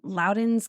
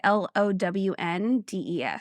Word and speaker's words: Lowndes: Freshour said criminal investigation specialists from Starkville, West Point, and Loudons County. Loudons County? It's yes, but not how we spell it. Oh, because I was like, well, that's kind of cool. It's Lown, like Lowndes.